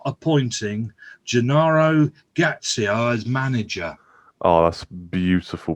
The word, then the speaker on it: Gattuso: Have you seen Tottenham are not appointing Gennaro Gattuso as manager? Oh, that's beautiful pronunciation, by the way. It's so wrong. It's unbelievable. It's Gattuso. Gattuso, yeah. Gattuso. Not Gatarisu or whatever you just said.